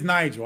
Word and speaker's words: Nigel: It is Nigel.